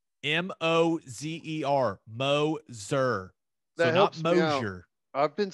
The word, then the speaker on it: Moser: that's how that's what the press release said m-o-z-e-r mo zer i've been saying mosher i think everyone's been saying moser but it's